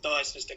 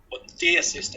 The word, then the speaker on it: Dear Sister: a lady called the Dire Sister come and, Dear Sister is the correct way to pronounce it. Yeah, not the Dire Sister.